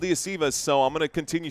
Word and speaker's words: Iosivas: Benny saying Yoshivas. I've always heard it called Iosivas, so I'm going to continue saying it how I'm comfortable.